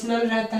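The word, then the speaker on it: rho: Symbol use करते हैं जिसको हम रो बोलते हैं, आर एच ओ, ठीक है, उसको प्रोनाउंसिएशन में रो बोलते हैं।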